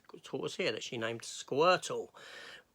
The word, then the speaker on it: Squirtle: Thus, we got this tortoise here that she named Squirtle. Rhymes with turtle.